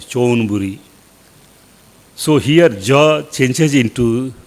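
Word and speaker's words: ชลบุรี: Javanapur, it is called as Chonburi.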